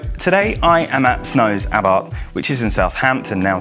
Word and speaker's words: Abarth: get the history it's about and yet I'm saying a bar because even though it might look like a bath it's pronounced about the about range isn't